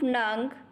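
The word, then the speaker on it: neng: Has a pronunciation of nung.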